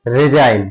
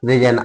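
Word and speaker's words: resign: जैसे कि मान लीजिए रिजाइन क्या रिजाइन आर ई एस आई जी एन ये क्या है? रिजाइन तो इसमें जी एन ए टी क्या है ये नेट तो जी इसमें साइलेंट है आपको दिख रहा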